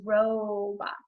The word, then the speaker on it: robot: The next word is robot. I hear that long O sound in the first syllable, so it's an open syllable.